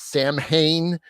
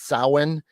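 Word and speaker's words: Samhain: the Celtic Festival and the incorrect way is Sam Hayne which is wrong but it's Salin so uh that was uh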